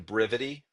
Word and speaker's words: Brivity: Yeah, so I've been using Brivity for a really long time. A lot of people don't understand how I pronounce that, so it's Brivity, Brivity.